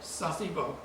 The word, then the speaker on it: Sasebo: and you went to, how you pronounce it? Sasebo.